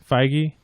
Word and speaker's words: Feige: Marvel's Kevin, how do we pronounce his name? Feige has been tapped by Disney to develop a new Star Wars film.